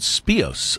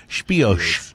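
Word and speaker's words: Spìos: special edition number nine called spice or as the CEO as the guys from Scotland pronounce it spiash yeah and so that's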